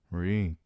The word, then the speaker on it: Reek: Reek Reek, it rhymes with sneak.